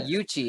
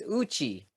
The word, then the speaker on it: Uchi: yuchi so Uchi is oh I I've been pronouncing it incorrect I say yuchi it's Uchi Uchi so I'm actually pronouncing it like an